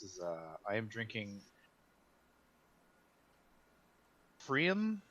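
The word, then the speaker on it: Pfriem: uh i am drinking prim i don't know how to pronounce it p f r i okay one of those two letters is silent okay yeah i'm pretty sure it's the p is it good yes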